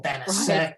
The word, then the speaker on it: Banachek: Because I put a C-H-E-K because I didn't want like bounce a check with the extra C in it, or Banachek because that's how Americans would say it.